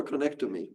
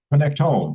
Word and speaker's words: connectome: connect toy you Olaf do you pronounce it connectome or connect toy connectome connectome just like genome okay AI and the